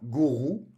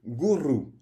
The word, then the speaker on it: gourou: R se prononce toujours de façon roulée. On ne dit pas gourou, on dit gourou.